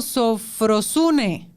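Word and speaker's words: σωφροσύνη: buena para pronunciar, pero se pronuncia algo así como sofrosune y significa cordura de mente.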